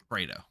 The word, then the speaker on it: Fredo: Is it Fredo or Fredo? Fredo. Fredo. Got it. Like Alfredo.